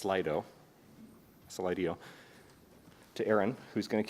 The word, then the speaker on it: Slido: And we're going to bounce directly to, once again, it's pronounced Slido, to Aaron, who's going to kick it off with some distinction between hype and reality.